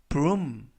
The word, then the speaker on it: broom: 이번 표현은 broom, broom, broom 이라고 발음하시면 되겠고요. 이때 알파벳 OO 두 개가 이중 모음으로써 우 발음이 납니다. 그래서 broom 이라고 발음하시면 되겠고요.